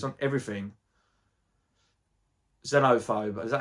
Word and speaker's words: Xenophobe: Xenophobe, is that how you say it? It's like a silent X, or you turn the X into a Z.